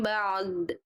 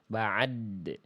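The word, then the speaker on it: بعد: Dal sifat qol q qalqalah. Ain punya sifat mengalir suara sedikit. Jadi dua-duanya tunaikan bacanya bukan mim ba'd. Nah, itu jadi kayak ba itu dalnya eh ainnya jadi ada mantul. Harusnya gimana?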